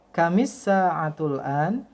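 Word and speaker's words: كم الساعة الآن: sa'atul n coba diikuti Kamis saat Ulan gitu ya jadi cara membacanya adalah Kamis saat Ulan artinya adalah Jam berapa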